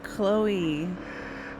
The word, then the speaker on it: Chloe: CH that's chy that's Chloe the H is silent the H makes a k sound let's go to Grime